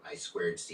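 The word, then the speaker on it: I²C: hooked up to the I2C or I squared C is the right way to say it, but it's so annoying.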